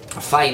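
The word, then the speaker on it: Fyne: Now this is made for the co-op by Fine Ales Limited in Scotland. I don't know if I'm pronouncing that right, but it's spelled F-Y-N-E, so fine to me.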